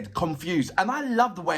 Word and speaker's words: Konfuz: His name is, and I hope I'm saying it right, it's Konfuz, and it's pronounced as, it's spelled as Konfuz, Confused.